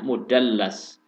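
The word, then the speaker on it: مدلس: Bahasanya membacanya mudallas. Ada lam tasdid, ya.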